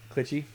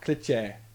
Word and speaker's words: cliché: running around, clitchy, Clishy. I like that. You get the like a choo-choo train? Yeah, very phonetically, Oh, cliché, okay.